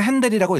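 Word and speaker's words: Händel: 어떻게 된 거냐면 보세요 독일에서 태어났기 때문에 응 게오르그 프리데릭 핸델 에다가 거기 위에 움라우트 붙어 있거든요 그래서 핸들이라고 읽는데요 사람이 이제 영국으로 나중에 기화를 해서 42살에 거의 20대부터 계속 영국에서 활동을 한단 말이죠 그래서이 사람이 영국 사람이 됐을 땐 조지 프리데릭 헨델이 됩니다 조지 프레데릭 핸델 조지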